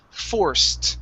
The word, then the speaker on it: forced: try this one here this is forced go right to a t sound forced forth fourth good